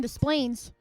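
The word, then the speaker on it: Des Plaines: And see sometimes it's hard because I'm from the Midwest so you have to mispronounce the name to say it right.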